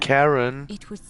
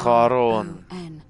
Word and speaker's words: Charon: Es ist genauso wie du beschrieben hast, nur ausgesprochen nicht Karen, etwas Charon. As in Charon, the ferryman of the dead.